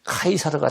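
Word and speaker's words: Caesar: 그래서 시저를 갖다가 그 당시 말인 라틴어로 발음을 하면 카이사르가 됩니다. 카이사르.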